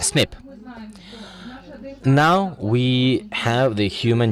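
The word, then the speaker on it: SNP: does that mean and it's pronounced usually as a snip now we have the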